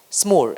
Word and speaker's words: SMOOR: Vimal, I mean, you, for example, at SMOOR, is it pronounced SMOOR? SMOOR? SMOOR, as with a ooh, with a SMOOR, right?